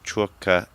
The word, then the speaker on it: Czwórka: Hi, it's Logistics, and you're listening to Czwórka Radio. Perfect pronunciation, wow.